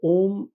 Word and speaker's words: ओम: महत्व देखा जाए तो ओम एक एकाक्ष मंत्र है पर इसमें तीन अक्षर होते हैं अ उ और म अ से अपति यानी